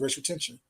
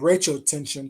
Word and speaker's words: Racial Tension: Her name was Racial Tension. They call it Rachel Tension, but it was supposed to be pronounced racial tension.